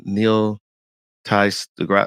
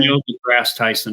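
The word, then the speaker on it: Neil deGrasse Tyson: is this is it Neil Ty the grass I always mess his name up what's his name how do you say his name Neil the grass Tyson yeah thank you thank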